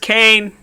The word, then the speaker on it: Kane: Is there a Kanye East here? I'm looking for a Kanye East. It's pronounced Kane. What? It's Kane. What? Yeah, like Dwayne, but like with a K.